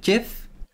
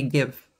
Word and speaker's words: GIF: for the same gift jiff i usually say give but someone on reddit said it's pronounced like gift without the t let's change this to